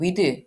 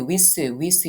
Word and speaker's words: with: with 같은 경우에는 우리는 with with with with 이렇게 발음하죠 그런데 th 사운드는 치아 사이에 혀를 드시고 살짝 바람이 세어 나오는 소리예요 with with 바람 소리